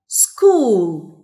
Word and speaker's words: school: School. Repeat after me, please. School. School. طيب نخلي بالنا إن school ch ما بتتنطقش ch بتتنطق ك.